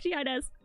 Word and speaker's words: Shiaides: I learned that from the short that nobody knows how to pronounce my name. Okay, bye. Signing off, Shiaides.